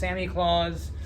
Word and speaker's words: Samichlaus: But this is Samichlaus, or I've also heard it pronounced Samichlaus.